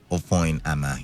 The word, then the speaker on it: Ofoyama: Ofoyama, yes, that's the correct pronunciation, Ofoyama.